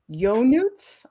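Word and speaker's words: Ionuț: It's pronounced Yonuts. I'm Romanian.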